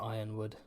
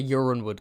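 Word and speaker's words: Yronwood: Yeah, people saying they pronounce it ironwood. Uwood. I was a urinewood guy.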